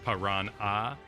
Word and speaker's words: Piranha: Showed up with Tiger Shark and Piranha, which is spelled with an ah at the end because you scream the ah part, so it's Piranha.